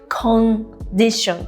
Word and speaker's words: condition: Like condition とか, for example. People don't realize that they're saying kon too much. So like when I do 発音添削, it's not kon, but it's more of like a kun, like this much.